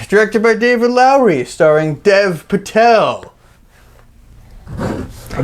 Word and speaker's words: Dev: So The Green Knight was directed by David Lowery and starring Dave Patel. Dev. And, yeah, I did that again. Dave. Damn it. So So insensitive. The Green Knight, directed by David Lowery, starring Dev Patel.